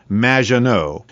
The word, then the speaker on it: Maginot: However, you have mispronounced my name. which rhymes with badge. As in duh, and no as in more than you. Maginot.